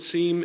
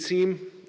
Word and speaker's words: SIEM: We've put SIEM into CIT. Sometimes it's pronounced SIM actually, but I'm going to use SIEM.